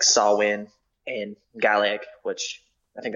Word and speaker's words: Samhain: too like the paganism Samhain is the holiday I don't know if that's how it's pronounced it's like saw win in Gallic which I